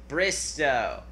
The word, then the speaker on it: Bristowe: If you ever meet Kaitlyn, remind me of the last name, how to pronounce it? Bristowe.